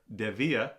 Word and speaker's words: Dievier: the progress on my DEA D IE v v i e r DEA that's how the owner told me that you pronounce it um Nomad Heritage boot